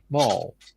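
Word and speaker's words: Mol: And the research facility in Mall. Pronounced as Mall.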